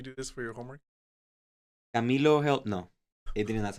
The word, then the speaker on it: Camilo: This memorable name is pronounced Camilo and means helper to the and noble.